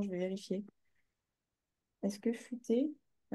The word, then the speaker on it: futé: Non, futé, comme ça. Oui. C'est pas fuité, futé.